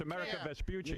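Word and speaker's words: Amerigo Vespucci: And you said it wrong. It's America Vaspuchi.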